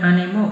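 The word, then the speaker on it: 兄: di sini kakak perempuan adalah seorang siswa kemudian Animo gakus Kakak laki-lakiku juga atau seorang pelajar jadi E ini bacanya Ani kakak perempuan saya seorang pelajar Kak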